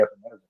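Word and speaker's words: Epenesa: Yeah, but you mispronounced his name. The correct saying is AJ Epinesa.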